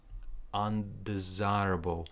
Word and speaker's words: undesirable: the first part, very, undesirable. So this part, undesirable. So stress goes like here. So this part is quick, and then desirable. It's Z and I.